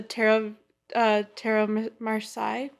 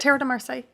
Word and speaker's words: Tarot de Marseille: little bit of the Tarot Marseille. Is that how you say it? Tarot de Marseille.